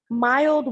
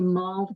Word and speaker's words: mulled: wine that's I guess it's actually mulled wine you take oh that one okay voiceover I'm not saying it right ah the wine and you put the spices in it and and you it molds in there yeah okay so it's not mild as in uh I thought